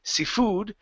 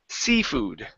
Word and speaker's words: seafood: word it said seafood putting the stress on the end of the word it would not be Sifu but seafood seafood okay good so